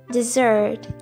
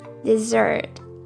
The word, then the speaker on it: dessert: emphasis is on the first syllable desert desert while desert has stress on the second syllable desert desert let's start with the